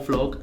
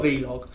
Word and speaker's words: vlog: week's video yeah right it is pronounced blob guys just so you guys are we're video club yeah not video blog bingo blog or vlog not be log yeah no hard feelings